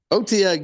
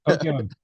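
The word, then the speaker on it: Otyugh: Otiug, yeah. Did I pronounce it right? Yes. Otiug.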